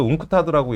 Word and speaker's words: UNCTAD: 우리나라가 이거 웅크타드라고 읽어야 되겠죠.